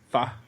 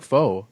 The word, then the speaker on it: pho: Is a nice like a bowl of what we call in Canada pho, but what the rest of the people call, I believe, pho. Is that pho? Wait, you don't call it pho? No, I pronounce it correctly. It's pho. It's pho? Pho. Do you call it pho here? No. You call it pho? Yes, because that's what everyone else calls it. So that you don't seem weird.